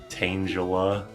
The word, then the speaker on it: Tangela: Is it tangala or tangula? It better be tanga cuz it's tangled. But it's spelled It's not spelled like tangle. It's spelled like angel. Tangela. Yeah, it's Tangela.